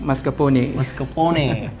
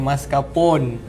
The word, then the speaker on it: mascarpone: Mascarpone from Italian. Tapi orang Melayu kita panggil mascarpone.